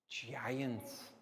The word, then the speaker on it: giant: can we see guys giant yes now does giants have the c sound or the g sound really giant g sound soft g sounds like a j so pac-1 over to